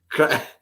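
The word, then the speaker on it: craic: It's pronounced crack. Crack means fun.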